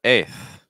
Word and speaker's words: eighth: The key thing is going to be the vowel sound, as always. So we want to make sure we're saying an A, right? A, A, A.